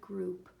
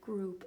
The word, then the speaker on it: group: somebody pinched you ow this word however does not make the owl sound the oh you hear says ooh like a long u almost and in this so